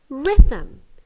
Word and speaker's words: rhythm: the stress you're right the stress is on the re so it's rhythm not rhythm the first one is correct